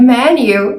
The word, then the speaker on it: menu: pronounce the word Manu it's not Manu it's me me menu it's a short clothes sound like 10 and bed me me men menu